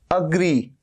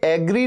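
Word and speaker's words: agree: sound आ रहा है अग्री इसमें भी अग्री ये एग्री नहीं है ए का साउंड नहीं है अ का साउंड है अग्री एस टी ए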